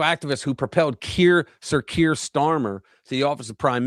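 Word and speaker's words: Keir Starmer: Ky Kir what is it you there Kier Starmer Kier Starmer thank you yeah political activist who propelled Kier sir Kier Starmer to the office of prime minister went on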